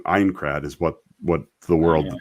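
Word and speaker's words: Aincrad: that is i i incred sorry i kept saying it wrong ein crad is what what the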